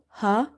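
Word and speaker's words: ح: ilafihim rihla rihla ra ha kasra rih ha is from the middle of the throat and in order to pronounce ha correctly, open the mouth wide and try to exhale the air out.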